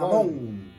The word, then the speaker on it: mamón: mamón. Tienen el espíritu mamón. Con acento en la O.